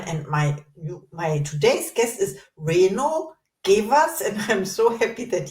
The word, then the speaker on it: Reino Gevers: Once again, welcome to the Inspired Podcast, Reino Gevers. Thank you. Thank you.